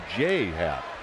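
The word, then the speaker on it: J. A. Happ: I believe I said J.A. It's pronounced J. Happ. Is that correct? Yeah, and it's a weird thing too, because the first name, the initials don't stand for anything. Right. It's not James Andrew Happ. His first name is literally J period A period, and he pronounces it J.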